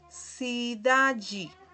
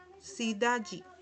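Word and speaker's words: cidade: Por lo menos aquí tenemos el ejemplo sidaji. Sidayi, ¿qué significa? Ciudad. Aquí tienen cómo se pronuncia en portugués.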